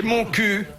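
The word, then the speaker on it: Montcuq: Et mon cul ? Ah oui, dans le l' Oui. Bah alors, je rappelle que mon cul, ça s'écrit mon cuc. Oui, on prononce mon cu.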